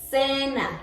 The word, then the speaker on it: cena: Or it can sound like cena, like s. So cena.